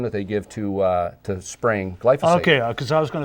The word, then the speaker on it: glyphosate: So the surprising thing was, the boss keeps saying that it isn't about glyphosate.